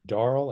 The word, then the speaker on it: Darl: still strange I mean darl I never heard the name darl I didn't know it was a a Corruption of Daryl you know phonetically spelled Daryl uh so I I